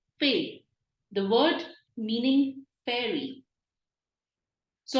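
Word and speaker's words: fée: E with an accent is an A sound. F with A pronounced as fay.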